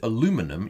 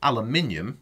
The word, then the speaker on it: aluminium: to say its name if you picked aluminum you're presumably from somewhere in north america my apologies life does get better i promise and if you said aluminium you know the proper